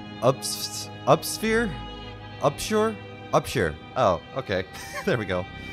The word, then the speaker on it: Upshur: How do you pronounce his last name? Upsphere? Upshure? Upshure.